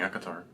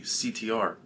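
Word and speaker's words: ACOTAR: thought I was reading aatar you are no that's a court of thorns and Roses AAR you don't pronounce the A and the a in AC PRS it would be CTR no CTR no aatar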